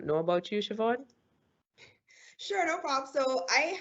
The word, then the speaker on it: Siobhan: then let you know politely sometimes that is pronounced Siobhan. I figured after the third or fourth time you should get it. You know, the third or fourth time you should get that as name. So Siobhan is definitely the word that's going to be